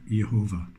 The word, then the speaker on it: Jehovah: Testament his name capitalized, you'll find that it's actually pronounced Jehovah.